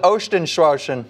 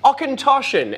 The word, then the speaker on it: Auchentoshan: That's pronounced, go on. Oh, what is this? I'm being a real pain. This is the Ostenschwarschen. Auchentoshan, as Chris just said.